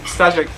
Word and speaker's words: Staszek: Well, first of all, I would say all the credit should go to Staszek, if I pronounce his name correctly. We haven't actually talked about quite okay. Staszek.